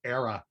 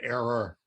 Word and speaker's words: era: i i guess that i actually mispronounced that i i mispronounced era and said error but it's kind of